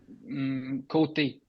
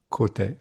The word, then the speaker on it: Côté: Côté, Côté. Okay. because the E with an accent Hmm. is pronounced A.